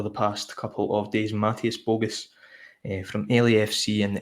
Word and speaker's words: Mateusz: Mateusz, that's for Celtic fans how to pronounce the first name of the player, Mateusz Bogusz, if I'm not butchering that.